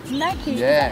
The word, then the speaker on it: MacKay: No, my family are a bunch of retards and can't pronounce the Oh word my god, correctly. I'm so sorry. Okay, No, Mackie. it should be Mackay Sorry.